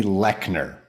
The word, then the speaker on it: Leochner: It's Leochner. Yeah, Leochner. I mean, you have to pronounce it sometimes, so 3 or 4 times, so that you can, grasp that thing.